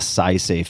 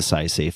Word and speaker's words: Saisei: Punch Coffee, go to my nonprofit foundation, the SciSafe Foundation, which focuses on cutting-edge scientific research and other uncrowded bets.